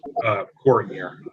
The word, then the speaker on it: Kohner: It's Ms. Kohner. Oh, I'm sorry. The pronoun, I believe it's Kohner. How do you pronounce it? Kohner? Still muted. How do you pronounce your name, ma'am? Kohner.